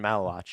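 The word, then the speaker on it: Maluach: Malawok. Is that right? Oh, yeah. Damon Malawatch.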